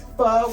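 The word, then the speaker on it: pho: The proper word is it's spelled P H O, but the O is pronounced kind of like a A.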